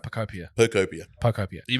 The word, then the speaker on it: Pokopia: Speaking of games that are expensive, Pokemon Pokopia.